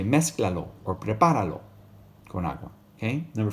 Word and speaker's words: prepáralo: So you say prepáralo con zanahorias. Notice you got to put that accent over the A. Because if you didn't have it written there, you would say it like this. Preparalo.